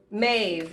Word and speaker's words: Maeve: or me let's see Maeve is how you pronounce it Maeve is a Celtic